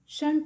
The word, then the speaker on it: shan't: अक्सर हम लोग shall not की कॉन्ट्रैक्शन को shunt प्रोनाउंस करते हैं, तो हम लोग